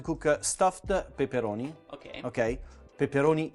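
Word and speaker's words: peperoni: Pepperoni, Italian pepperoni, not pepperoni as the Americans say.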